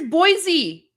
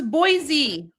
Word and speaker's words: Boise: Guys, here's Boise. This one's Boise. Boise, Idaho. You guys helped me with the pronunciation for this one.